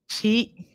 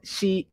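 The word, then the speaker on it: 四: Ichi, ni, san, shi, go, roku, shichi, hachi, kyu, ju. Okay. But something happens with a couple of the numbers. Okay. Shi happens to be the Japanese, also the same pronunciation for death.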